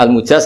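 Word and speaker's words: المجاز: karena sanad itu untuk al-mujaz bacanya al-mujaz karena dari fi'il madhi ajazah, jadi mujaz itu yang dikasih apa?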